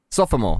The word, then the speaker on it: sophomore: Sophomore, exactly. No, 3 syllables. It's not sophomore.